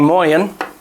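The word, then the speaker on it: moien: i'll start off by saying moyan that's how they say it in luxembourg luxembourgis is moyan good morning um a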